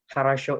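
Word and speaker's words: хорошо: Lalu huruf O yang kedua itu pelafalannya seperti huruf E sebenarnya. Nah, kata kharasho ini sebenarnya itu diucapnya kayak kharasho, tapi kedengarannya itu kayak ya kharasho.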